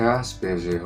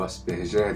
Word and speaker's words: Asperger: Antigamente o pessoal fala assim, mas meu filho é Asperger ou Asperger, dependendo como você faz a pronúncia, nenhuma das duas está errado.